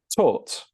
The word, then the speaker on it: taught: And it's the same with the next one, with the AUGH. This is also pronounced like or, okay? But this word is pronounced taught. So this is the past of teach.